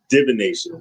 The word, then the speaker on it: divination: Is it actually divination? That's how you pronounce it.